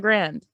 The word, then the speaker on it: Grande: like how do you say yeah it's ariana grande just okay like you see it took me